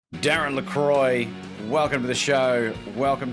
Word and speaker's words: LaCroix: in quebec they say lacroix which is technically the proper pronunciation but for me i grew up my whole life lacroix like c-r-o-y but it's croix so